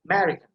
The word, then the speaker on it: American: Because first A, that is short vowel, so you don't have to pronounce it. So emphasis will be ma sound, so American.